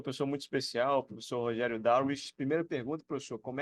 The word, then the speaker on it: Darwich: hoje com uma pessoa muito especial Professor Rogério darwi primeira pergunta Professor como é que é a pronúncia correta do seu sobrenome Oi Igor tudo hein cara obrigado aí parabéns pela iniciativa sua mas é Rogério daruich darish Pronto agora is essa isso a a entrevista